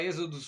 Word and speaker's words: Exodus: Aí o pessoal fala Exodus, né, meu? A gringaiada aqui no Brasil, Exodus, Êxodos. Enfim, em português, eu cheguei lá, brinquei com o cara, em vez de falar Êxodos, falei Exodos, ele, Êxodos. Enfim, o cara pronunciou em português.